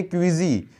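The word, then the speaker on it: queasy: और अगर इसके प्रोनाउंसिएशन की बात करें तो होती है क्विजी।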